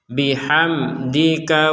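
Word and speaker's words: بحمدك: Jadi kita tidak boleh membacanya hame, tetap dibaca jelas bihamdi, bihamdika wa nuqaddisulak.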